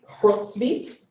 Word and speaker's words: Hrotsvit: Sundays from now and learn how to say her name, Hrotsvit. It's like at the back of your throat, like a lot of phlegm.